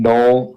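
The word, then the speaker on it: Knull: by the Symbiote God Knoll that's his name Noel yeah it's just a regular name yeah but it's spelled k-n-o-l s he's still just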